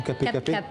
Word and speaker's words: cap cap: Alors en créole, on dit cap cap ou capé capé. Cap. En fait, on dit cap cap, mais dans ma prononciation, quand je le fais, ça fait capé capé.